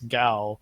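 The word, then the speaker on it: Gau: on this United Front its gal yeah okay yeah like yeah like like cow but with a G people are saying like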